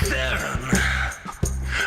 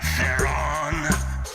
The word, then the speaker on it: Theron: The name was Charlize Theron. But people got unease in pronouncing it, and therein lies the problem of their own. So they say things like Theron, but they're wrong, Charlize, they're wrong, and hence this song.